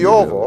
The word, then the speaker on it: Toivo: It's the T-O-I should be toy. Like a toy, T-O-I. Yeah, I probably mispronounced it. Toivo or something. Toivo, okay.